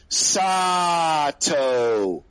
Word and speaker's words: Sato: comment is please please his name is sato not the way that both you were pronouncing it how did we pray i won't even i don't know sato was that completely wrong i don't know i've i've been pr pronouncing it sato he's saying he's saying that it's supposed to be like otto like sato maybe that's uh in